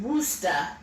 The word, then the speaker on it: Worcester: said think of a city like worcester massachusetts pronounced woosta a rooster that's why i always call it